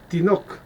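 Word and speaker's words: תינוק: Se pronuncia tinok, tinok.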